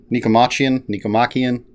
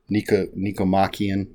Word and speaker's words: Nicomachean: I could find said, we'll see how I pronounce this, Nicomachean Ethics, whatever it is. I tried to look up the pronunciation and found like 4-5 different ways to pronounce it. Nicomachean, whatever.